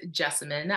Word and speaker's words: Jessamine: hi my name is Jessamine I tend to tell people it rhymes with specimen but with the J